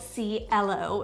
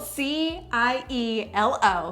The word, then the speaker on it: Cielo: So this one is called Cielo. So it's spelled C-I-E-L-O.